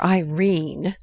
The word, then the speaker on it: Irene: My daughter Irene, said Mrs. Carstyle, she made it rhyme with terine, has had no social advantages.